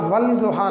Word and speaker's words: والضحیٰ: اذا سجا، ٹھیک ہے، تو والضحیٰ والضحیٰ نہیں ہم پڑھتے، درست تلفظ اس کا والضحیٰ۔ تو ایسے تمام حروف جو الف لام سے شروع ہوتے ہیں مگر الف لام اس میں ساؤنڈ نہیں دیتا، سائلنٹ رہتا ہے، ایسے حروف حروف شمسی